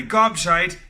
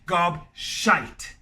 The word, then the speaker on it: gobshite: Therefore, we can say you are a gobshite. You talk a lot of Now, don't say gobshit cuz gobshit does not exist. Gobshite. All right, so make sure you get the pronunciation right.